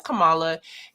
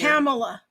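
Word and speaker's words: Kamala: I was waiting for you to start talking about it, but she mentions Camala and says, "Well, you know what? I hear Camela."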